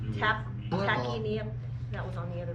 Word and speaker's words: tachypnea: tachypnea, so yep. So asking me for pronunciation advice is probably not your best bet.